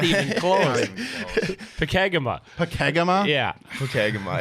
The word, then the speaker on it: Pokegama: butchered it. Well, how do you say Pokagama? Not even close. Pokagama.